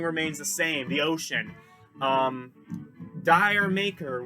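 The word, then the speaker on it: D'yer Mak'er: the same the ocean Dyer maker which many Americans pronounce Dyer maker I actually read a thing where Robert Plant says that it's supposed to be said sort of with a British accent so jah maica jah maica kind of a little bit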